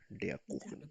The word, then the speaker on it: der Kuchen: Der Kuchen, pronounce it me. Der Kuchen.